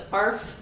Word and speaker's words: Arfvedsonite: Arfvedsonite is spelled Arfved. So it's Arfvedsonite. Vedsonite. Arfvedsonite.